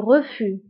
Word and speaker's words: refus: هنا أيضا le refus كنكتبوها بإس في آخر الكلمة ولكن لا تنطق. Le refus, الرفض, هو الرفض.